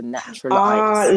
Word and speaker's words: Naturalites: So Naturalites. Like not as in the lights, but the light as in MC. No, not MC Light. MC Light is spelled with a Y. Yeah. Lights as in limelight.